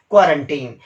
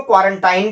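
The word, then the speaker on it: quarantine: वो है आपका क्या, क्वारंटीन। कुछ लोग इसको क्वारंटाइन भी प्रोनाउंस कर रहे हैं, लेकिन सही प्रोनाउंसिएशन है इसका क्वारंटीन।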